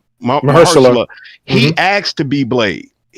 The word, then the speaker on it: Mahershala: Because y'all have to remember, I don't know how to pronounce his name, Asha Ali. Mahershala.